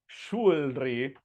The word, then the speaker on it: jewelry: So this word does not sound jewelry or anything like that. It sounds like this. Jewelry.